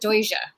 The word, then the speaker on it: Doge: Yeah, I thought it was Doge, and someone says no, you have to pronounce it Doja. I was like, okay. Guess depending where you're from.